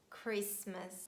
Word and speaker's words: Christmas: And they are asthma, Christmas, mortgage, soften. The word often can be pronounced in both ways, and we can say often or often.